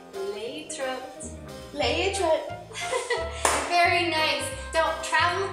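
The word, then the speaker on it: להתראות: Leitrot. So when you want to say goodbye in Hebrew while you're there visiting in Israel, say leitrot.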